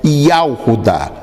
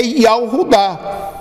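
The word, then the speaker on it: יהודה: Aí nós vamos ver que é pronunciado como, hoje já não se pronuncia em Israel Yahudá. Hoje em Israel se pronuncia Yehudá. Eles pronunciam assim justamente para não falar o nome que eles não querem falar. Mas a pronúncia correta do nome Judá é Yahudá.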